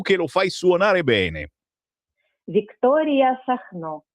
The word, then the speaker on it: Victoria Sacno: Victoria Sacno. Sacno, con l'accento sulla O, quindi?